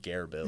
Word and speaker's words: GearBills: of uh well it's it's based off of Bear Grylls that's that's the whole joke so that's why it's pronounced Gare Bill yes so you got